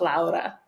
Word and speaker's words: Laura: So yes, I'm originally Lithuanian, so even if it's spelled the same, people who know me or my friends, my work colleagues, they know that it's pronounced Laura. Yeah, it's one of the most common names in the world, but the pronunciation changes depending on where you are.